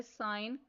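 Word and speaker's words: sign: Switch fetch match next part D right the साइलेंट letters इन the boxes. इसमें first word है साइन।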